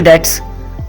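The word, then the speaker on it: debt: आर पिलिंग up external dates are पिलिंग अप यह डेट में B silent है इसको हम डेप्ट नहीं पढ़ेंगे डेट पढ़ेंगे अगला हमारा सेंटेंस है पाकिस्तान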